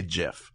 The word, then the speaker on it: GIF: understand why people say GIF I understand why they even this is why I think because he's looking at it as a word so it's a soft G not a hard G because it's not called